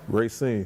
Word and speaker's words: Racine: That's how you pronounce it? Racine.